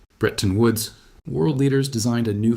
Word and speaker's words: Bretton Woods: Behind closed doors at the Bretton Woods conference, that's pronounced Bretton Woods, world leaders designed a new financial system.